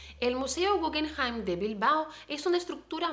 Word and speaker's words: Guggenheim: del museo guggenheim allí la palabra guggenheim es una palabra que tiene origen germánica no entonces estoy hablando con como si fuera la pronunciación de la palabra original guggenheim pero por supuesto si